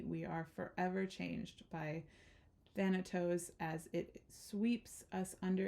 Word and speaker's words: Thanatos: but the true archetypal Resonance of than Thanatos sorry I've been pronouncing that wrong of Thanatos cannot be easily a